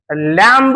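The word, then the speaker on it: lamb: उच्चार केला जातो क्लाईम एल ए एम ए बी लम म्हणू नका लम लम म्हणायचा नाही बी चा उच्चार करायचा नाही लक्षात येतय का रे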